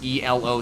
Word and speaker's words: Elo: do that it's not it's not an acronym it's ELO it's named after a person oh whatever it's it's